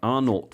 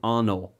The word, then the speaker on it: Arnault: I guess the patriarch of the family is Bernard Jean-Etienne Arnault. So I guess maybe they don't pronounce the T if they're French.